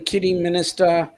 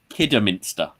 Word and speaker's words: Kidderminster: Sarah is saying they're visiting Kitty Minister as they play in the FA Cup Saturday. It's pronounced Kidderminster, Okay. not Kidderminster.